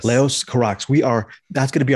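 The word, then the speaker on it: Leos Carax: you are the expert is it laos or leo's carax is that how we pronounce that filmmaker's name yeah leo's carrax yes leos karax we are that's gonna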